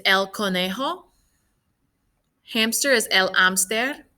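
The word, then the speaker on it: hámster: conejo hamster is el amster spelled the same but don't forget the accent and don't pronounce the h and then last we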